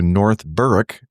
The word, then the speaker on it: North Berwick: While on an EDI overnight, I made a side trip to North Berwick for a hike and saw this caution about burning toasters and refrigerators.